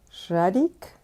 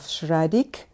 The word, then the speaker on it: Schradieck: Now, just like I said in the previous video about the pronunciation of Schradieck, it's Schradieck and not Schradieck. No ik, just Schradieck.